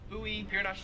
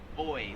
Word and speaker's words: buoy: floats in the water we pronounce that buoy they pronounce it boy like boy and girl kind of yeah same thing